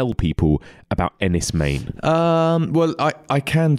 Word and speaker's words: Enys Men: I've been calling it Ennis men but I've been told it's Ennis Maine is that right yeah pronounced m-a-n-e okay all right so